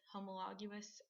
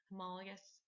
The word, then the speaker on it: homologous: that what I um habit I have is to pronounce um homologous chromosomes as homologous so just FYI they're pronounced homologous um but anyway a